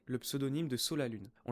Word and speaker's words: Sa la Lune: On le prononce effectivement Sa la lune parce que reprend la dernière syllabe de son ancien pseudo qui est Verseau et on ajoute à ça là où il a vécu au Comor, c'est-à-dire sur l'île de la Luna.